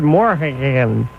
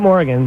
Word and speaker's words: Morhagen: about Superior Court Judge Howard Morhagen. Not Morgan. You'd think that would be the easy way to pronounce it. It's not.